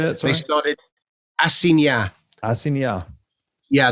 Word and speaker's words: assignat: Assignat. Yeah, the GN, assignat, in French, the GN is nya.